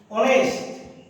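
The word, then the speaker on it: honest: যেমন লক্ষ্য করো, এইচ এর পরে যদি উ থাকে, অনেস্ট, এক্ষেত্রে এইচ এর উচ্চারণটা তোমার সাইলেন্ট।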